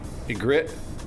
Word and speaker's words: Ygritte: You just pronounced it two different ways. That's true, I did. But that's because that's the way the wildlings do it. They say Ygritte sometimes and Ygritte sometimes.